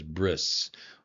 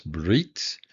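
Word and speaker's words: ברית: Uh and again, remember uh you may be familiar with this as bris or briss. Uh because in Ashkenazic, the final tav is pronounced as an s. But uh for what we're learning here, it's brit and brit.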